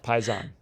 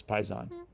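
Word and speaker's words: paisan: times as funny uh pison paison there's absolutely no good reason why you would know that word but it's paison okay I don't know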